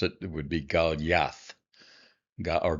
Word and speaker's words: Goliath: So um coming closer to how we pronounce it it would be galath or galath if you uh I guess following a long vowel this actually would be pronounced.